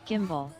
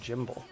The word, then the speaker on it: gimbal: material um it's pronounced gimbal i'm pretty sure it's got a lot more uh i know it's pronounced gimbal but it's funnier when she says jimble um i think uh